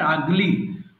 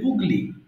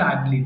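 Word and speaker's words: ugly: ওকে, দেখো এই উচ্চারণটা অনেকে পড়তে পারে না, লাস্টে যেটা আছে আগলি, অনেকে ভুল করে বলে ফেলে উগলি। আচ্ছা, এটা হবে আগলি।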